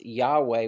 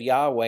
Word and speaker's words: Yahweh: lord there is actually the hebrew word that we pronounce yahweh we're not really totally sure of the pronunciation because it was so sacred that it was never said and so we're not sure of the vows there but yahweh is often